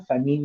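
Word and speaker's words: famine: दोनों प्रोनाउंसिएशन ठीक है, फेमिन भी ठीक है. फेमिन एक्चुअली फेमिन बोला जाता है, बीबीसी वगैरह पर सुनोगे फेमिन आएगा, और इंडिया में कई बार फेमाइन बोलते हैं उसको.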